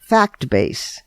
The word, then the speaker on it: FactBase: FactBase. But FactBase is spelled FACTBA.SE. In other words, the dot comes before the last two letters, fact-base.